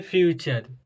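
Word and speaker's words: future: का प्रयास कीजिएगा जैसे ए यू टी य आरई ठीक जो आपको उदाहरण दिखाई दे रहा है नोट कीजिएगा यह हो जाता है फ्यूचर ठीक फ्यूचर यानी क्या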